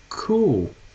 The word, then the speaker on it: cool: freezer nós temos cool o certo é assim que fala cool cool Ok essa pronúncia é mais prolongada por causa dos dois ossos do l é né então quando